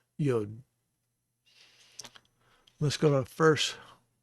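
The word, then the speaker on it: יוֹד: So it would be Yod, Yod. And I've heard people pronounce it Yud and Yad, but obviously the pronunciation is with a cholam, and that is the O sound, Yod.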